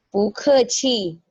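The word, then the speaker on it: 不客气: Nah, ci-nya di sini dia tidak memiliki tons ya, tidak ada shengtiao. Jadi kalau bacanya itu berarti ci-nya itu ringan. Bu keqi, bu keqi. Nah, jadi itu ringan ya, ci-nya ringan lagi.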